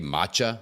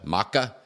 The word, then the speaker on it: matcha: got this green tea matcha I'm sure if that's how you pronounce it ma CH a matcha maca no it's matcha for sure green tea matcha that's delicious and see a